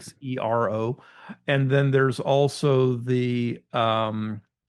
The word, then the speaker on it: Xero: One is made by Garmin, the Zero, and Zero is spelled with a X, like Right. Xero.